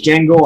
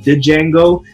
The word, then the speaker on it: Django: intro to Django and I want to say that's pronounce Django I've heard it being pronounced did Django which sounds weird to me because I know that movie Jamie Foxx they were calling him Django and so that's what I'm sticking with that'll probably cost me